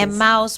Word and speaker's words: Emmaus: Emmaus Properties.